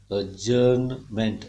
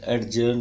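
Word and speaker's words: adjournment: ओ यू आर एन अजर्न मेंट एडजर्न नहीं बोलेंगे the sound इ साइलेंट हियर नमेंट क्स क यू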